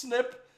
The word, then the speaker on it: SNP: Also, just because it's pronounced snip doesn't mean that you are that you write it out as that.